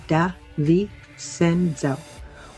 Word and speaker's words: De Vicenzo: That's De Vicenzo. Write it down because you're going to want to say it correctly when you bring this up at a dinner party.